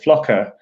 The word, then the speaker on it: Flocker: we developed this technology called Flocker that was intended to rhyme with docker anyway but yes there's